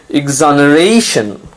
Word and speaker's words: exoneration: form of exonerate is exoneration notice now you have to stress on the second last syllable the syllable right before tion exoneration it means the state